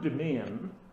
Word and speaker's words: demesne: thing about the spelling the word demean right has a silent s in the middle of it lovely one for children